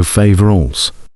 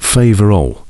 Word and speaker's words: Faverolles: The breed was given the name of the latter village, and the singular is thus also Faverolles, not Faverolles. The final S is silent in French.